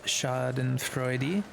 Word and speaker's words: Schadenfreude: Just FYI, at the end of the German words is actually pronounced, so it would be Schadenfreude.